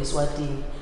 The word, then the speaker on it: Eswatini: Because for us, it's we call it Eswatini. But because we're being colonized by the British, they couldn't really pronounce very well Swazi and Aswati.